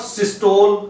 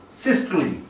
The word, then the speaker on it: systole: also a word which is commonly mispronounced systole. So this term is used in measuring blood pressure, like systolic, diastolic, and systole, not systole. This word is systole, and here E which